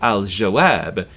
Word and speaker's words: al-jawab: So al-jawab is the answer. And we do hear the lam in alif lam because jim is pronounced near the back of your mouth.